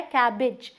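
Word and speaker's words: cabbage: बंद गोभी, बंद, लेकिन इसे हम कैबेज बोल देते हैं स्पेलिंग की वजह से, बट ये क्या है, कैबेज, ई आएगा, कैबेज।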